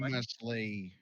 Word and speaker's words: posthumously: How do you pronounce that word? Post music. Post afterlife. Post-mortem. After his Post-mortem. death. Yeah, post-mortem. Posthumously.